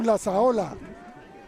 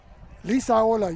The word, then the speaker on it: Lisaola: Matthew Lasaola. Let's get that name right. Lisaola, no? Lisaola, you're correct, John. Phonetically and alphabetically.